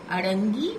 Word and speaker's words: अड़ंगी: अड़ंगी माने रुकावट या पैर से अड़ंगी लगाना, आप समझते हैं।